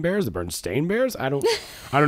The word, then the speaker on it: Berenstain: can't remember you know it's as Berenstain but when I grew up we call it we pronounce it Bernstein and so like as